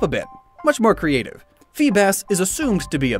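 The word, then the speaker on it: Feebas: bit much more creative phoebus is assumed to be a bass and it transforms into a beautiful serpentine sea dragon fun fact phoebus's name phonetically is the same as Phoebus which means shining one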